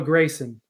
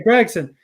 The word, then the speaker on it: Gragson: I remember for years you would say Noah Grayson and I always thought how has he not learned how to say his name because everyone else NBC Fox that would say Gregson but then so before